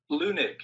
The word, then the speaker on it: Leunig: I found out I was saying Wahhab's name wrong this whole time. Lunig.